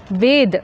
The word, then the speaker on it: Veda: So, it is most appropriate to pronounce as Ved when speaking Hindi and as Vedam when speaking Tamil.